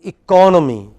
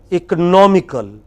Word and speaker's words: economic: So as words are derived, the stress changes.